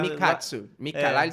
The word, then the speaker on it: Mikatsu: Não, a pronúncia é essa. Essa, mas lá. Mikatsu.